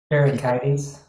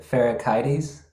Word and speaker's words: Pherecydes: Pherecydes. Say it again. That's how you pronounce it. Pherecydes. Pherecydes, yes.